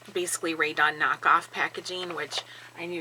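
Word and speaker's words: Rae Dunn: simplistic, and it's basically Ray Dunn knockoff packaging, which I knew you'd recognize right Who's away. Ray Dunn? Like They in your relation to Ray Gun?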